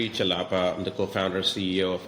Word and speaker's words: Chellappa: So u my name is pronounc chalapa.